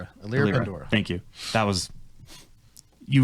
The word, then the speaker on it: Elira Pandora: And that is, that's Elira Penrose, another name I had never had to say out loud. Pandora. Elira Pandora.